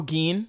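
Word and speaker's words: Gin: And then, like, Giden, is that how you say his name? Who? The creepy guy with the smile? Oh, Geen.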